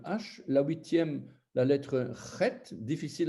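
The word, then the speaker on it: ח: La huitième, la lettre chet, difficile à prononcer. Chet, c'est guttural, ça sort de la gorge.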